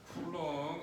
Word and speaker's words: C: B 30 30 C 45 45 쿨롱 C라고 읽지 마. 45 쿨롱.